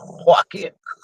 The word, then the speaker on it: Joaquin: Joaquin.